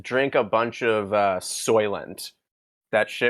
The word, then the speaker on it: Soylent: write an essay about soylent because i guess it was a hot topic at the time how do you say that is it s-o-i-l-e-n-t e s-o-y t oh okay oh soy like soy like soy yes okay